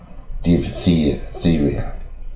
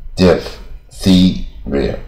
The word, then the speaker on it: diphtheria: 多麻烦了。PHTH 连续四个字应该怎么念嘛 Diphtheria Diphtheria、啊、白喉